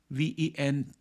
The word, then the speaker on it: venetoclax: called uh winter ventoclax v-e-n-e-t-o-c-l-a-x I pronounce it as venetoclax you may pronounce it differently but that's the spelling